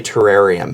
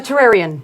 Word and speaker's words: Terrarion: I I'd like to say terrarium. Oh, Terrarian.